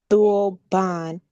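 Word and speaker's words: dulband: The word turban comes from the old Persian word dban pronounced dulban.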